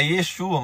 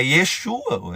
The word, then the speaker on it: Yeshua: Eu não sei se você sabe, mas Jesus não é o verdadeiro nome dele. É Yesua. E Yeshua. Se você for no hebraico, você vai até pronunciar diferente.